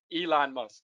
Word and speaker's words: Elon Musk: musk sorry yeah i'm mispronouncing i i was pronouncing how the person spelled it elon musk thank you uh okay so that's what happens